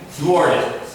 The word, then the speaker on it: thwart: Thwarted. Thwarted. Thwarted. Thwart, T-H. At the end of the word is wart, and then you have thwart, to stop.